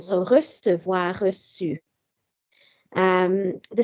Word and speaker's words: reçu: So for example, the past participle of recevoir is reçu. So normally that would be reçu because of the U. As I said, the U would have taken the hard cat sound.